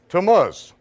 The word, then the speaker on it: Tammuz: Can anyone pronounce that for me? Tammuz.